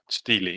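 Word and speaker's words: stele: Steely. Yeah, Steely it's called. Yeah. S T E L E is actually pronounced steely as well.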